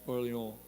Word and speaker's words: Orléans: Yeah, like we have New Orleans, but in French it's pronounced Orléans.